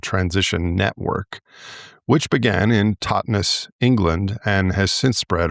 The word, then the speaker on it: Totnes: in, the southwest of England, whose name you pronounced correctly. Thank you very much. The town of Totnes.